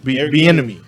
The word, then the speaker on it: Bieniemy: I can't pronounce his name. Can you give me the Kansas City offense coordinator? Bellamy? Eric Bieniemy. Bieniemy.